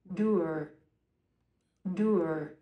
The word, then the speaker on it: dour: da here we go dur dur okay that that does d like tour or like doers if I'm going to